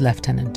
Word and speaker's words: lieutenant: British Dignitary British Gentleman British Lieutenant - or British in British British Prisoner British Soldier